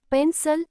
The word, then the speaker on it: pencil: Pencil, pencil. The second syllable, cil, is unstressed and sounds like a.